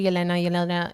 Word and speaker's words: Yelena: So my name is, pronounced Yelena or Yelena. I say Yelena.